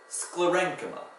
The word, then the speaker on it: sclerenchyma: So two K sounds, one at the beginning with a C, and then a K with a CH.